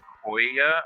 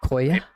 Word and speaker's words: Kolia: Koa. I don't I think the L is silent. Koa.